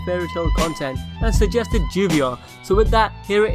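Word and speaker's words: lluvia: from the Spanish word Juvia meaning rain in Spanish - double-l is pronounced similar to english sound between AJ and my Juvia is actually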